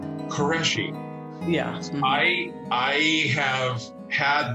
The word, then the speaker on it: Qureshi: know how do you say your last name qureshi qureshi yeah i i have had this conversation with